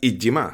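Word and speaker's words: 잊지마: no escrito así, lógicamente, tal y como está escrito en el título, no es más que una transcripción fonética para que los que no sabemos coreanos podamos pronunciar Ijima.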